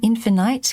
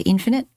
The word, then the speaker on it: infinite: actually edit it um infinite because infinite rhymes with bright but usually in English you'd say infinite it's up to you